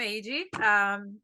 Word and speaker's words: Heidi: Well, I'm AG. That's Heidi pronounced in Portuguese.